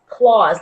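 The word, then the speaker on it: Clawse: type in the word claws claws like a bear claw but it is spelled C L a w s e C L a WS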